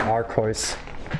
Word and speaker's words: Arceus: silly thing i saved i also pronounce the god pokemon archoice because it's a german way to pronounce them archoice yes exactly like that there's actually a color called lila in german it's purple you think it's arceus it's our course blastoise blastoise is two